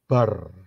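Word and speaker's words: בר: rest sebelah kanan ya Be dan rest itu kalau dijadiin satu itu bacanya bar bar itu adalah Son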